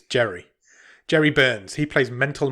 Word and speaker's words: Jere: pronounce his class name but it's j-e-r-e jerry yes it's jerry jerry burns he plays